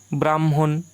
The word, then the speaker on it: ব্রাহ্মণ: আগে উচ্চারণ হচ্ছে তারপরে হ আসছে তারপরে হ ব্রাহ্মণ এখানে ম ধ্বনি আগে উচ্চারণ হয় এবং হধনি পরে উচ্চারণ হয় এখানে